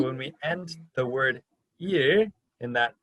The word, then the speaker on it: 일: So you're just going to take your tongue, oh, and you're going to move it back just a little bit. Yeah, and that's your sound.